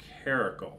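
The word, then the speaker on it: Caracal: And I believe the pronunciation is Caracle.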